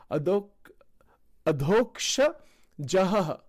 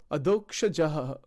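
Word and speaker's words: Adhokshaja: Adhoksha Jahaha. Adhoksha Jahaha. Adhoksha Jaha. It's actually Adhoksha Jaha. That's what it is. I'm still not saying that correctly. Adhoksha Jaha. That's how it is pronounced.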